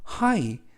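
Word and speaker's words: high: has 가지고 있어 어 하이 하이 하면 높은이라는 형용사가 되겠고요 이때에도 유의하실 점은 gh가 묵음이라서 하이라고 발음하시면 되겠습니다 높은 silling 천장을 가지고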